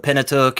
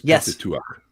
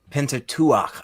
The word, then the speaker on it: Pentateuch: So it seems very obvious in the Pentateuch and the Torah as a whole and rabbinical writings. Just hold on for the record, the proper pronunciation is Pentateuch. Pentateuch.